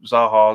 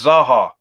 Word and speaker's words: Zaha: up no end um that people call still call zaha zaha it's zaha the best way to